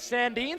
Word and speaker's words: Sandeen: another save by Sandy I asked the head coach Larry Fila before the game how they you pronounce the goaltender's name you said it go with Sandeen so that's what we'll go with Larry from Baltimore staying